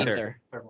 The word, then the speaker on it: Aether: I went to Poseidon, did that, and now Ether. I don't think I ever got anything. Aether, or however you pronounce it. Yeah, I think they say Ether.